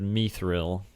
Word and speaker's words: mithril: think so it's yeah I always said mithril but the movie said me thrill me to meet the real me 30 look sounds better as mithril yeah based on my